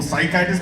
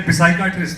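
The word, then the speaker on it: psychiatrist: अगर किया इसमें तो व्हाई इज द B silent in साइकेट्रिस्ट द P silent O साइकेट्रिस्ट में पी है पहला नहीं पहले पिसाइट्रिस्ट था अंग्रेज लोग चेंज कर प्लीज रिमेंबर साइकट्रिस्टाइक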